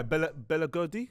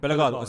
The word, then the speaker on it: Bellegarde: He But does- it's that other guy, Bella Gordy. Is that his name? How you pronounce it? Bellegarde, centre midfield.